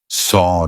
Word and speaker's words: saw: we speak it's annoying so actually saw feels like it should rhyme with door right it's the same sound saw door look at the word